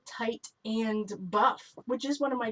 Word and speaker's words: Titan Buff: see it so fast it sounds like tight and buff which is one of